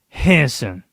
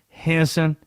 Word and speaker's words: Henderson: It is two syllables the way that people from Henderson pronounce it. Henson. That is What? 30 minutes from where I'm from. Henson.